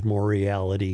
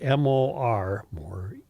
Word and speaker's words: Moriarty: name over the years, Moriality and things like that. It really is a simple name to pronounce because it's M-O-R-I-A-R-T-Y, Moriarty. Mm-hmm. Very simple, Moriarty.